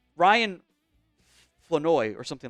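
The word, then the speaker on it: Flournoy: also realized it's not floro there the r is silent in his name it's it's Ryan flenoy or something like that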